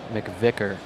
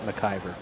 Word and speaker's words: McVicker: okay so we have Chase McVicker yes not mver I apologize to the